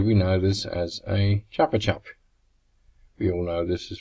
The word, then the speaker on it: Chupa Chup: In Australia we know this as a Chupa Chup. We all know this is pronounced with an so it sounds like a gun. Know how they say it here? They say it like Chupa Chup, like chook.